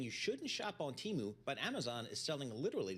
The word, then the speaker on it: Temu: you will, from China called Temu. That's how we're going with the pronunciation, and how it competes against Amazon.